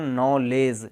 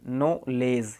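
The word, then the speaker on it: knowledge: इस प्रकार से इसको अपन नॉलेज, नॉलेज, यहाँ पर एन से पहले क्या आया तो इसको भी अपन ने साइलेंट कर दिया।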